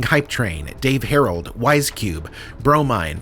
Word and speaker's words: Bromine: train, Dave Herald, Wisecube, Bromine pronounced bro mine mine hamding dinga mother